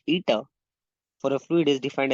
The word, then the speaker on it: eta: instead of strain itself the coefficient of viscosity pronounced ETA for a fluid is defined as the ratio